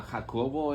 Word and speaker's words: Jacobo: pronounced correctly okay right my name is uh hako this is uh Jacob in English and uh my last